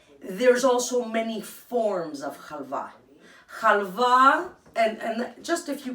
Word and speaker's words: halva: I'm not sure of the pronunciation, but the way Greeks pronounce it is halva.